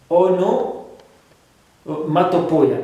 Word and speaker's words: onomatopoeia: It's a bit difficult to pronounce. Okay. Onomatopoeia.